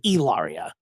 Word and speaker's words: Hilaria: it racistly inappropriate like it's supposed to be pronounced it's Elia we move on um speaking of someone who